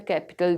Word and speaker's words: Capitol: उसके बाद हमारे पास वर्ड है, the word is कैपिटल एंड कैपिटल। ये दोनों, इनकी प्रोनाउंसिएशन सेम है, बट द मेन डिफरेंस